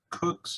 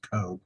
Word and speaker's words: Koch: um i uh with cook's heat off hand and done i know in wichita koch is coke but it's pronounced cook and i wanted to